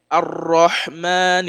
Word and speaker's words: ar-Rahman: What you see here, ar-Rahman ar-Rahim. So we don't pronounce the lam in this area, because the rule of lam here is al-idgham. So the lam is not pronounced.